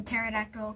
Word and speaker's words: pterodactyl: last one no no the pterodactyl cuz the P is silent so the e is